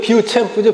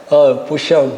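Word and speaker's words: Beauchamp: 우리말로 그냥 읽으면 비우챔프죠, 비우챔프. 비우챔프인데, 내가 미국 사람들 발음을 어떻게 해나고 찾아가지고 다 들어봤어. 그러니까, 보시암. 그래서 비우챔프가 아니더라고. 보시암이 맞더라. 보시암 그러더라고. 보시암이 맞아요. 조지 보시암은 1961년에 교육과정 1호를 출간했다.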